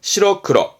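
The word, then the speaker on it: 白黒: 발음은 시러크러, 시러크러.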